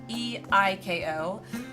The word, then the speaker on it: Eiko: a kindred spirit in 9, and that was Eiko, however it's pronounced. E-I-K-O.